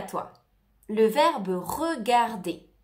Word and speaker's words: regarde: Te recuerdo de no pronunciar la E al final. Je regarde. No se dice je regarde. Je regarde. Se escucha la D, pero no la E.